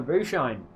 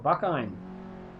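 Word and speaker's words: Bucine: Bushine. Or Buckine. I'm going to call it Bushine because that's how I think Italian is pronounced.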